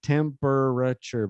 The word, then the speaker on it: temperature: So, yeah, temperature is one of those words where we cut out one of the syllables. So it's written like temperature, but we usually say temperature.